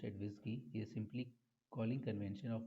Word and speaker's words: WSGI: enhance the feature of the flask applications wsgi pronounced at whiskey is simply calling convention of web servers to